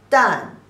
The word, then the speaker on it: 旦: The pronunciation is 的 an 旦, the 4th tone.